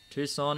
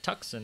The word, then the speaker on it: Tucson: and away you go tucson indeed or tucson as it's spelt what got you into